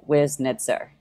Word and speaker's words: Wiznitzer: at it, I think it's the two Z's always get people like really crazed for some reason. But it really is phonetic. Like it's just chopped up into three syllables, like Wiznitzer. Yes. It actually isn't difficult when you do that.